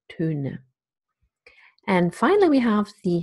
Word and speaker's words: Töne: And then there is the umlaut that goes with it, and it's represented by the sound Töne.